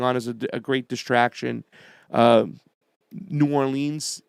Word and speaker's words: New Orleans: New Orleans has been hit, or Nolens, depending on how you say it, has been hit with a hurricane, one of the worst of all times.